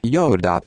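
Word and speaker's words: ยอด: iike peak agra tai yoda the thai word Yoda rhymes with laud can mean either the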